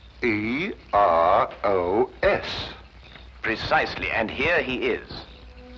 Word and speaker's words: Eros: where there shouldn't have been one what then spell it as she spelled it but without the H e r o s precisely and here he is Cupid the Greek